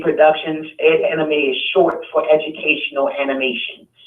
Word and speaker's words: Ed anime: pronounce the company's name we pronounce it's Ed anime Productions Ed anime is short for educational